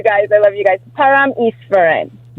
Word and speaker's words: Paramesvaran: Pam Iserin.